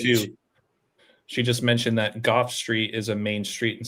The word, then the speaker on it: Gough: I think kind of like it makes me think of like Van Gogh, but apparently it's pronounced Goff.